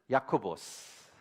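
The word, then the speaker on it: Ἰάκωβος: 헬라어는 야코보스, 영어는 제임스죠. 어떻게 야고보스가 제임스가 됐는지 모르겠지만 진짜 한국 발음이 제일 히브리나 헬라 발음랑 제일 유사한 것 같습니다.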